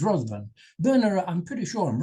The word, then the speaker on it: Bernera: Bernera, I'm pretty sure I'm right, because I was told that's how it's pronounced.